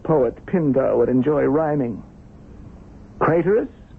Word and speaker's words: Craterus: Craterous, which rhymes with traitorous.